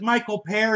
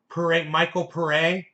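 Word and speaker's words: Michael Paré: The second way you said it. Michael Pere.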